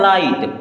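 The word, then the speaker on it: light: का जैसे हम इसको गाहट पढ़ते हैं तो इसको हम क्या पढ़ते हैं गाहट लेकिन नहीं पढ़ेंगे ना यहां पे जीएच साइलेंट है इसे पढ़ना क्या है लाइट क्या पढ़ेंगे लाइट बच्चों इस प्रकार की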